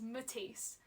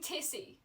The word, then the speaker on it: Matisse: But it's because it's from my actual name, which is Matisse. But like, yeah, tease. Kind of like tease, but tease.